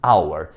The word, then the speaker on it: hour: O H ele não é pronunciado, então o som vai ficar de vogal e você vai colocar o an na frente.